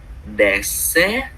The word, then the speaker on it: dessert: Alors, vous voulez un dessert ou désert? Désert. Voilà. Et ces deux mots ont une grande similarité. Mais en fait, la prononciation est légèrement différente.